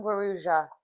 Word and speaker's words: Guarujá: Hello and welcome to Guaruja? Guaruja? No, you pronounce the J. Guaruja? Welcome. Hello from Guaruja.